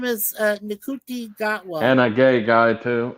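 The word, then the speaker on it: Ncuti Gatwa: some crazy name I can't Nuti- pronounce. His name is Nkuti Gatwa.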